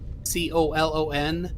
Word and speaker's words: colon: Is that how you pronounce COLON? Yes. In England? How would you say it? Colon. We say colon. Colon. A long O. Colon. Yeah. A long O and like an I sound.